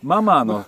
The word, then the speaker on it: ママー: Bạn có phát âm tốt các dấu chấm và gọi chúng là "MA,MA-" không? "MANNMA-". Nó được viết "MANNMA-". Không, nó được gọi là "MAMA-".